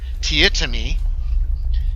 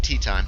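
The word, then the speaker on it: Teatime: Tietami. He doesn't like when you pronounce it tea time.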